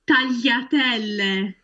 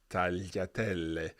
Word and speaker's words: tagliatelle: Tagliatelle. Tagliatelle. Yeah, this is a word that you absolutely have to pronounce correctly. We cannot hear any strong G sound in there. Tagliatelle.